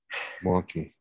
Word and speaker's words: Milwaukie: I just want to point out, you know you're from Milwaukie if you say Milwaukie in two syllables. Milwaukie.